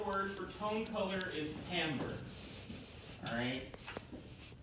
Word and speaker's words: timbre: for comb color is Hamburg alright not pronounce like it looks like it is timbre Tambor is a quality it's